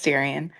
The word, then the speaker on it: Darian: Also, let me know if you if I'm pronouncing your name correctly. Yes, you are. It's Darien.